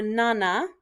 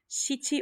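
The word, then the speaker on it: 七: short okay all right here's seven or nana there's no superstition with this it's just there's two pronunciations and you use whichever one you feel like okay straight across and come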